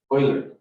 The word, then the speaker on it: Euler: radar um actually it's not pronounced euler it's pronounced euler oil yeah that's because the the the name it's